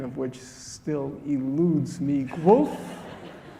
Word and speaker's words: Guelph: which still eludes me, Guelph? Is it go and wolf? Guelph? Guelph. And here, the crowd is quite large, I think.